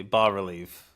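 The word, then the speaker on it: bas-relief: I'm going to say B relief is it ba or Bass relief I think it's ba uh but I'm sure at this point probably both pronunciations are acceptable like so many things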